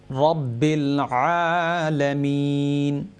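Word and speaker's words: رب العالمين: দুইটা তিনটা বিষয়ে আপনি খেয়াল রাখতে হইবা, ও যে রব্বিল রাজবর, এটার লেগে ফুল মাউথ আমরা হইতাম, পুর হরির আরে উচ্চারণ করতাম রব্বিল আলামিন, আলহামদুলিল্লাহি রব্বিল আলামিন, ফুল মাউথ হরি আমরা হইতাম। আর যে শেষে আনআমতা আলাইহিম,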